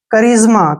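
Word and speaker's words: charisma: पढ़ना है कैरेक्टर देखिए करिज्मा करिज्मा में भी क्या है सीच आया है उसके बाद क्या आया है ए आर आया है और फिर क्या आया है एक वल आया है आई ठीक है ना इसलिए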